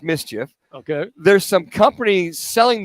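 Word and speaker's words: MSCHF: assume it's from the brand Miss Ms CHF pronounced Mischief okay there's some companies selling the big red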